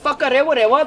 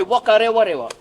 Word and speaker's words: Whakarewarewa: An example of that, the WH we pronounce as F. Down south, they'll say W. So instead of Whakarewarewa, they'll say Whakarewarewa.